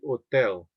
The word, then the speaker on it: hotel: The H is silent, so it would be hotel. Okay, so un hotel, and this word barato, so barato means cheap.